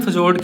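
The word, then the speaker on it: fjord: इसे हम फजोर्ड कहते हैं। ठीक है? सो या फजोड या फाययोड जो भी आप प्रोनाउंस करना चाहो।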